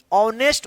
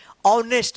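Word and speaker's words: honest: आयन होगा क्यों क्योंकि इसका जो उच्चारण होता है ना एच साइलेंट होता है एच क्या होता है साइलेंट ऑनेस्ट उच्चारण होता है क्या होता है ऑनेस्ट देखिए यहां पे ओ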